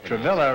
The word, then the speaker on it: Travilla: Martha mirror and Bill travilah huh is that rhyme with a girl no no no no no L travilah Ramsey and gorilla will pronounce what is it travian